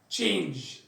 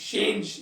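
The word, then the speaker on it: change: طب سي اتش هي تبقى تشين تشين تشينج تشينج تش، فيها ت في الاول تش، مش شينج، لا، تشينج تشينج تشينج يعني يغير، تشير يعني كرسي.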